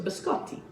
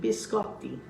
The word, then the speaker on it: biscotti: i've told you before we have a double consonant in italian you pronounced you pronounce both consonants so biscott and t so biscotti see how easy that is repeat it after me biscotti and look at this